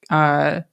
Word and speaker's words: Manor: Just like Manor, Manor, is pronounced Manor here.